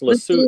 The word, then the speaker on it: Lesotho: I think it's pronounced Lesotho. I think So- the TH is pronounced the hard T, like Thomas.